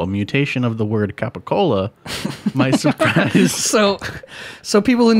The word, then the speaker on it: capicola: So gabagool is just a You can go to an it's just a Italian mispronunciation of capicola.